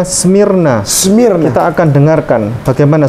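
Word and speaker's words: σμύρνα: Bacanya Smyrna.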